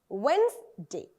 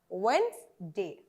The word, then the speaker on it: Wednesday: It is really pronounced as Wednesday. Wednesday.